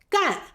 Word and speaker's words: 干: 干gàn 第一个意思是表达担任、从事 To take on, to engage in “干”字的后面可以接名词，表示职业 After "干" (gàn), you can add a noun to indicate one's occupation.